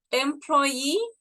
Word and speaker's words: employee: Employee, lo pronunciamos así como si fuera I latina.